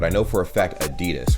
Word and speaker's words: Adidas: I'm like, yo, what if somebody pronounced it Adidas? Like, that would be funny, right? Adidas. But then that's literally, allegedly how it's supposed to be pronounced.